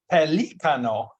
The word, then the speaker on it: pelícano: And pelicans, it's pelícano, Mm. which I didn't know.